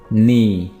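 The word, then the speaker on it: knee: नी, नी घुटना। यहाँ पे भी आपने के को प्रोनाउंस नहीं करना है, तो ये वर्ड होगा नी।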